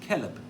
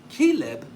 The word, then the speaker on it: Caleb: If you pronounce it as Caleb, it's an unsophisticated servant, Caleb. But if you pronounce it as Caleb, it means like heart. Like heart.